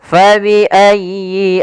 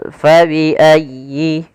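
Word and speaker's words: فَبِأَيِّ: Fabiayyi ala rabbikuma tukadziban. Pada lafal fabiayyi. Ah di sini sempurnakan di tasdid huruf ya. Jangan fabiayy ala tapi dia sempurnakan. Fabiayyi.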